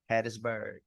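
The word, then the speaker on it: Hattiesburg: I'm pronouncing it right is it patsburg Mississippi Hattisburg Hattisburg Mississippi that's where I'm from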